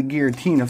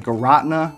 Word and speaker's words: Giratina: Let's go and get into Giratina first though. I don't know if that's really how you can pronounce it. Giratina, I heard other people call it like Garotna, which seems a little silly to me.